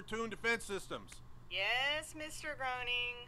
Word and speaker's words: Groening: Groening. It's graining.